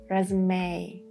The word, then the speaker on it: resume: Sometimes E at the end of a word is pronounced. For example, hyperbole, epidemic, resume. So you should be a little bit careful.